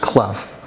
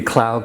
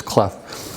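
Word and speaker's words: Clough: a grandson Bob cluff it's c-l-o-u-g-h and it's pronounced clef it could be Cloud clove whatever but it's cleff and it tells besides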